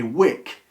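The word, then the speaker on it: wyke: when you see a wick it's normally a trading post you will very very very very rarely find wike which is w-y-k-e and probably would have been pronounced Wick meaning the same thing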